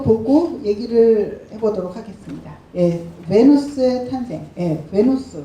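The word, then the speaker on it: Venus: 베누스의 탄생. 비너스는 영어식 발음이고 베누스라고 하고요.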